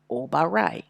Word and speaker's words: Obaray: for the Y and we do not write yah here we drop the a because the Y closes the word and so we have obaray so that's how we